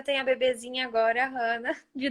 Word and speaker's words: Hannah: Hannah é hebraico. Nome hebraico. Até a pronúncia é bem hebraica. Ana em português, Hannah mesmo, começado em hebraico.